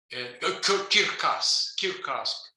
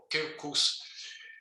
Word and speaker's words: circus: And so it's Caesar, it's a Circus, Kirkas, or Kirkus.